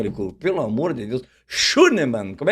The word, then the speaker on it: Schünemann: Mas que pronúncia, hein? Tá muito que achou? bem. Não, até ia te perguntar, é Schönemann? Schönemann.